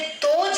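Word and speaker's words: those: आप इसे दोज नहीं बोलेंगे।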